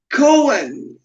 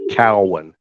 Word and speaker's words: Cowan: here live with duck Cohen what are you pronouncing that name right okay it's pronounced Cowan like c o w yeah the animal ah okay yeah and